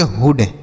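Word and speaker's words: hood: इसे हम पढ़ेंगे हुड। ठीक है? इसे ऐसे बिल्कुल नहीं पढ़ देना है कि बुक कुक उड हुट उड हुड ऐसे नहीं पढ़ेंगे। ठीक है? यहां पर छोटा ऊ का उच्चारण होगा। समझ में आ गया?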